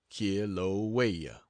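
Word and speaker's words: Kīlauea: in the world that of kilaa pronounced K waya and from then back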